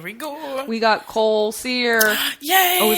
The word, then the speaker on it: Sear: go we got coal sear yay last name SE like it's spelled s e a r but we know it's s r and there's no description